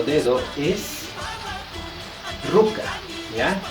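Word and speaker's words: ruka: que ruca que está la escritura con k y la pronunciación ustedes lo van a relacionar mucho más Con la c Así es que está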